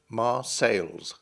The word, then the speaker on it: Marseilles: 19th century English speakers would have spelt and pronounced the town's name with an S on the end, Marseilles.